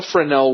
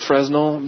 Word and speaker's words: Fresnel: to you how a friend L works the first and most important explanation for those of us who don't speak French is that it's actually spelled like Fresnel but don't say it that way now here's how it